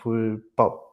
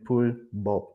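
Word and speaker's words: 불법: So we have words like mulka and pulpop. So yeah. So if it's not the case, it should be pronounced mulga and pulbop, but they're not.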